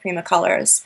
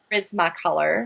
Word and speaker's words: Prismacolor: colors I love uh they're actually not called primac colorr I come from Montreal so I pronounced the you don't Prisma color Prisma yes but I call them Prima color because it's my French Roots but I love them